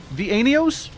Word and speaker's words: Vanios: Wait, it's not pronounced. Um, Vanios. Vanios. That how is that how you say it? Vanios. That That's right.